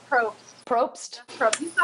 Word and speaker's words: Probst: Is it Jeff Prost? Is that how you pronounce it? Jeff Probst.